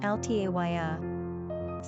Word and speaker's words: Althea: Number of syllables, 3. Ranking popularity, not applicable. Pronunciation, Althaía.